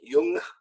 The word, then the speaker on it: Jung: and not Carl Jung Jung is an incorrect pronunciation and people will look at you weird Lee if you pronounce it like that so you could use the more German young or young either one of those people won't look